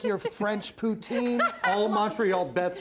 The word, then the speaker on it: poutine: How do you pronounce that? Poutine?